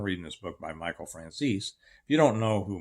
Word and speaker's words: Franzese: and he said, "Steve, it's pronounced Francesi." I said, "No, it's not. It's pronounced Franzese."